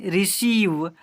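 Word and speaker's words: receive: Seventh number में जब किसी वर्ड में इ आई आए तो इ आई को बड़ी ई से पढ़ते हैं। देखिए क्या है? तो आर ई सी ई आई वी ई यानी रिसीव सी ओ एन सी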